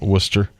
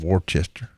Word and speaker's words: Worcester: It's kind of like I've told you the story about Worcester. Being up in Worcester, Mass. Yeah, it's spelled Worcester, right?